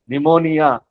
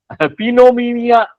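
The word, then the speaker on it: pneumonia: कई चीजों पे निमोनिया पिनोमिया स्पेलिंग पी से शुरू होता है।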